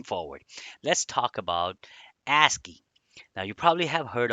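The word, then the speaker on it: ASCII: disk okay moving forward for let's talk about asky now you probably have heard of asky what is asky asky first of all stands for or it is pronounced as aski and it stands for American Standard code for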